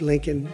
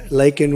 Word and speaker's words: Laken: brilliant 22-year-old nursing student Laken Riley you know Laken very well now and after of prodding him Biden couldn't pronounce her name he said uh he said Lincoln Lincoln Riley and Lincoln R was